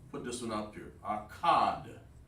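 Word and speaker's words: אחד: Akkad. Akkad. In Hebrew. That's how you say 1 in Hebrew.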